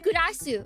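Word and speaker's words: グラス: Yeah, okay, they pronounce it. It's just Gurasu.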